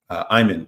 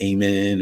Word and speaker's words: Ayman: Ayman. Ayman. Ayman. Ayman. I know some people pronounce it Amen or Eman. It's Ayman.